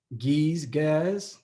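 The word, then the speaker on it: Ge'ez: language and he spoke gaz which is spelled g-e-e-z giz but that was the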